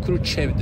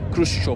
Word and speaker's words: Khrushchev: Stalin ölünce Stalin'in yerine geçen Khrushchev, biz Nikita Khrushchev deriz ama tam doğru okunuşu Khrushchev, hatta Khrushchev da değil ona Khrushchev falan derler.